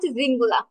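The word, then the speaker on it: Singular: এটা হচ্ছে উচ্চারণটা হবে জিঙ্গুলা।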